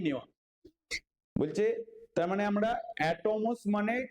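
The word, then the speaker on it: ἄτομος: এই কর্নার নাম দেন অ্যাটম বা অ্যাটমোজ বলে এ টি ও এম ও এস যেটাকে অ্যাটমোস বলা হয় গ্রিক ভাষায় অ্যাটমোস মানে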